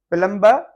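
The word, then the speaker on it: plumber: उर्दू में तो इसको हम कहते हैं प्लंबर उर्दू साइलेंट है तो हम बी को म्यूट करेंगे और इसको हम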